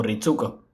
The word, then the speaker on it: Ritsuko: Pero en ese mismo doblaje el nombre de Ritsuko sí se pronuncia con la U, como Ritsuko.